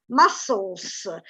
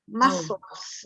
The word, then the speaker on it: muscles: One last thing, muscles. You don't pronounce the k, muscles.